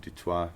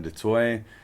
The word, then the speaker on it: du Toit: You can pronounce it du Toit if you want, but du Toit on all social media handles.